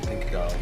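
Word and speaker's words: Pink Agave: Pinkagave.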